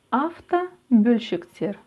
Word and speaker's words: автобөлшектер: Автобөлшектер, автозапчасти, автобөлшектер, автозапчасти.